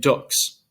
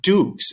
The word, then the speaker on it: dux: the u in full so it's the difference between in latin luna and dux right it's not dukes it's not a long u it's a short one and the same the